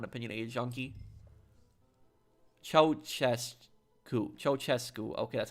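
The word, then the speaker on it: Ceaușescu: Ceausescu. Okay, that's how you pronounce the name.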